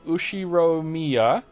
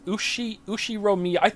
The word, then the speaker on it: Ushiromiya: The first part is my family name, Ushiromiya. That's a fairly plausible Japanese pronunciation so far. Thank you. I try. Since the Ushiro... I can't say this. Ushiromiya.